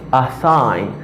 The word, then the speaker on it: assign: Ça veut dire le G dans la lui-même n'est pas prononcé. Pas assign, but assign.